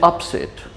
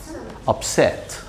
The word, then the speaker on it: upset: Is it upset? Or how do we say it? Who knows? Yeah, it is upset.